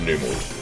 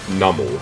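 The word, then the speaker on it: Numel: I've always said Numl, I think, cuz it sounds more like camel in my mind.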